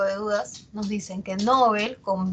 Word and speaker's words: Nobel: Dice, está muy extendida la pronunciación llana, a pesar de que se recomienda Nobel, se extiende su uso como llana, es decir, como grave, Nobel, ¿no? Incluso entre personas cultas, dice, ¿no?